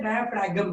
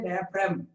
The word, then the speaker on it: diaphragm: Actually, you should not say diaphragm. You should say diaphragm. G is silent.